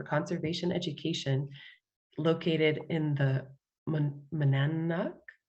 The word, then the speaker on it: Monadnock: And since 1993, Susie Spikol has been a naturalist for the Harris Center for Conservation Education, located in the Monadnock? How do you pronounce that, Susie? Monadnock.